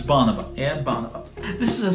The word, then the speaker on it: Bonobo: No, it's bonobo.